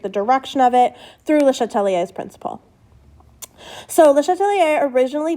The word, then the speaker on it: Le Chatelier: All right, let's talk about Le Chatelier, or Le Chatelier, for those of you who care about pronunciation.